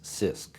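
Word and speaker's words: CISC: complex instruction set computers abbreviated c-i-s-c and pronounce sisk we propose that microprocessors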